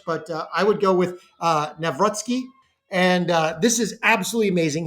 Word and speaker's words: Nawrocki: depending on, there's a couple different ways to pronounce it in Polish, but I would go with Nawrocki.